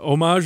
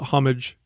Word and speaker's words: homage: Homage is the French pronunciation of it.